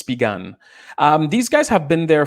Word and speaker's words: Spigen: It's pronounced Spigan. So I thought it was Spigen, but it's Spigan.